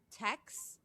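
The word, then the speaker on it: Taix: Very, Tex is how it's said, but I think your way sounds better. No. Tex rhymes with Rex.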